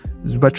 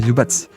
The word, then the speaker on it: Zubac: Zubac ou Zubat, pardon, il paraît qu'on dit Zubats, la prononciation correcte.